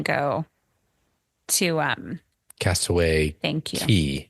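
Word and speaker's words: Cay: Key. Like my mind's I keep so wanting to say crazy. K because I know I always want to say K too. It's spelled K-A-Y. K, but it's Key. Yeah, because Key, I Castaway Key.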